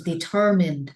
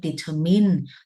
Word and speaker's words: determined: am really determined no that is determined not determined not determine all right